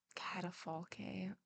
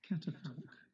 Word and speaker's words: catafalque: In the middle of the courtyard, a catafalque rose some 2 varas off the ground, entirely covered by a very large canopy of black velvet.